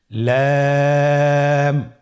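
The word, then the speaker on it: لام: লাম হরফটি উচ্চারণের ক্ষেত্রে অবশ্যই বারিক হবে এবং 3 আলিফ টেনে পড়তে হবে। আপনারা আমার সাথে বলুন লাম।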